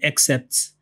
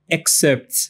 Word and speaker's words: excerpts: are giving you some excepts or how is it pronounced e excerpts right that's correct excerpts from our older shows